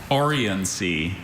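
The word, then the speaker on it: oriency: Orians. Can I have all the information please? Orians has no alternate pronunciations.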